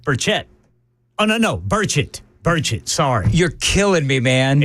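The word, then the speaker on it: Burchett: burette or burett burett oh no no burett burett sorry you're killing me man it's burett burett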